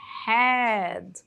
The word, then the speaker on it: had: a conjugação dele é had had had Então esse H tem um som de R né had had Ok continuando